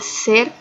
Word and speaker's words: ser: Em espanhol se pronuncia ser, o R é diferente.